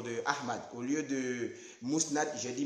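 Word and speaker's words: Musnad: Au lieu de Mousnad, j'ai dit Masnad, c'est-à-dire au lieu de Mou, j'ai dit Ma.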